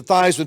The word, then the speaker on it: Theismann: think by just simply changing the pronunciation of your last name from thieves men to Theisman to rhyme with Heisman we can guarantee you